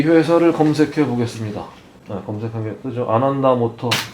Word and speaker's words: Ananda: ANANDA. 발음 나는 대로 아난다 모터래요.